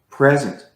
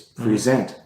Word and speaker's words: present: We have words like present, Mm-hmm. but if we stress the second syllable, it's present. Mm-hmm. That's a different word.